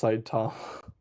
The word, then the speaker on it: Saitama: It's pronounced Saitama.